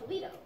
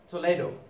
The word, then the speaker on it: Toledo: He lived in a Spanish city called Toledo. Toledo. I thought it was Toledo. No, no, it's pronounced Toledo. She says Toledo, you say Toledo.